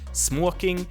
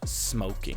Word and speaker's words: smoking: And there are those two different pronunciations. The one is more Swedish, smoking, and the other one is more English, smoking.